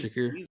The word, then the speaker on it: Shakir: So, and neither is Shakir or Shakur, however you pronounce it. Yeah, Shakir.